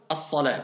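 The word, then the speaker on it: الصلاة: As-salah. Voilà pourquoi le mu'adhin, comme il s'arrête, donc comme on a dit, on s'arrête, on ne prononce pas la dernière voyelle, donc le ta marbuta devient ha.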